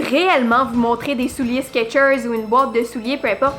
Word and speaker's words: Skechers: Parce que de toute façon, on le prononce Skechers. On entend comme le T.